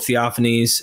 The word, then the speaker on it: Theophanes: is the chronicle of theophanes am I saying that properly yeah offense you're absolutely right that's how I always pronounced it so in theophanese the